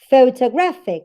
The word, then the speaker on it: photographic: Photographic. This word has several syllables. Photographic. Gra here is the strongest syllable in the word. That's why it has the primary stress. Now, the syllable pho is the second one in strength. That's why it has the secondary stress.